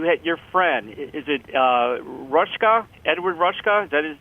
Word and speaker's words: Ruscha: Is it Rushka? Edward Rushka? Is that how you spell it? Ed Ruscha.